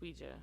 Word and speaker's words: Ouija: Ouija origin of evil I want to say Ouija yeah Ouija Ouija it's Ouija that's the real pronunciation okay anyway I watched